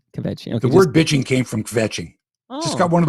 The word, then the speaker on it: kvetching: The Yiddish expression is kvetching.